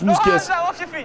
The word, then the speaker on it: Mousquès: Ça se prononce Mousquès.